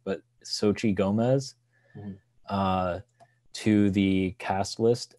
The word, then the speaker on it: Xochitl: From what I've read, it's pronounced Xochitl, but that could be completely wrong. But Xochitl Gomez, to the cast list.